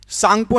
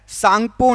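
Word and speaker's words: Tsangpo: इसको जाना जाता है सांगपो नदी के नाम से ता साइलेंट रहता है सांगपो नदी ऑप्शन नंबर ए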